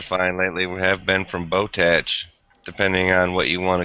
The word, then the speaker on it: Botach: I think it's tack and not tatch.